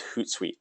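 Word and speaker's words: Hootsuite: more on the social side of things is hoot site so that's spelled h t like hoot hoot h o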